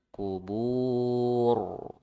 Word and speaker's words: القبور: Nah, ro-nya tebal. Kubur, bur. Ya, ya kan? Bur. Tapi kubur ditebalkan.